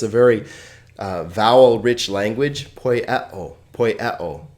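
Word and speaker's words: ποιέω: It's 1 consonant and 3 vowel sounds, 3 syllables. This is typical of Greek. I told you that it's a very vowel-rich language. Poieo, poieo.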